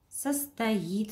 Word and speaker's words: состоит: Он состоит. В слове он тоже ударение ставить не нужно. Состоит. Ударение падает на и.